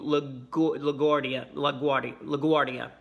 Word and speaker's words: LaGuardia: bin for a 3-hour flight from Houston to LaGuardia. That's how you pronounce it.